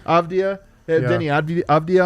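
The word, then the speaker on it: Avdija: Avdia. Avdia.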